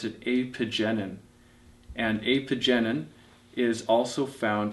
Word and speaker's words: apigenin: flavonoid and i may mispronounce this but i pronounce it apogenin and apogenin is also found in chamomile and